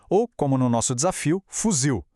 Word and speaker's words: fuzil: Pensa em palavras como café, papel ou como no nosso desafio, fuzil. A gente fala o zio mais forte, né? A ênfase é sempre no final.